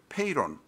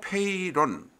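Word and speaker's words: Peyron: 왼쪽에 있는 명식이 브루노 페이론 프랑스 말로는 페롱이라고도 발음하는 모양입니다 그 발음 가지고 이야기를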